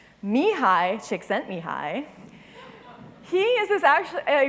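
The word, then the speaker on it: Csikszentmihalyi: at the bottom because I've never seen anybody pronounce his name correctly Mii chick sent Mii he is this actually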